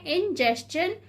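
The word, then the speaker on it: ingestion: Pronunciation पे ध्यान दें, इसे पढ़ना है इंजेस्शन यानी कि अंतर्ग्रहण, डाइजेशन यानी कि पाचन, एब्जॉर्प्शन यानी कि अवशोषण, एसिमिलेशन यानी कि स्वांगीकरण।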